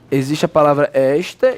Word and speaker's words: esta: Esta é uma coisa, está é outra. Não precisa diferença. Ó, quando você fala esta, qual é a sílaba batônica? É.